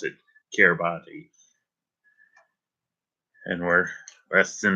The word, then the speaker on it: Kiribati: before the countdown, before the new year in Kiribati. I think that's how you pronounce it, Kiribati.